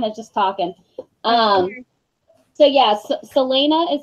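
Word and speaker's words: Celaena: we were kind of just talking so yes Selena is how you say her name obviously Sam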